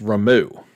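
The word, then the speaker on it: Ramuh: verma or is i apparently it's supposed to be pronounced remo as in r-o-m-o-o um i don't know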